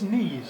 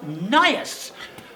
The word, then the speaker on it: Nias: So, Glyn, you play the Roman general Noblius Knees, isn't it? Nias. It's pronounced Nias.